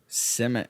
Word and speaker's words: Simic: Simic.